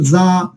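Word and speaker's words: جَ: অর্থাৎ জিমের উচ্চারণটা কি হবে? একটু শক্ত করে হবে। এর আগে আমরা হরফ পড়ে আসি ঝা, ওইটা হালকা করেছিল। তো জিমটা একটু জিহ্বার মধ্যখান থেকে আপনাদেরকে একটু শক্ত করে উচ্চারণ করতে হবে।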